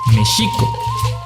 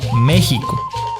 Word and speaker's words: México: white 5 la equis suena como s h entonces es méxico no méxico la escala no clasificarla